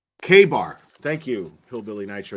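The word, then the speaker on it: KA-BAR: Department on Facebook K Bar thank you hillbilly night show USA it's known as a k-bar knife that's how it's pronounced you could tell I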